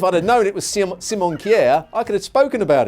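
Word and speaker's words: Simon Kjær: i messed up simon chair i think it's simon kier oh okay there you go just so eloquent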